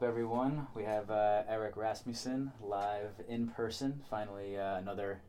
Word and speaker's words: Rasmussen: Yeah, Rasmussen is the worldwide accepted pronunciation of the name.